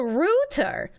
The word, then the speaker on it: router: routine I hate that British people pronounce the in internet router as the rotor it sounds really [